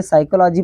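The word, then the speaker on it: psychology: है यस और जहां पी के बाद आता है एस वहां पर पी होता है साइलेंट उसका उच्चारण नहीं करते हैं इसको हम पढ़ेंगे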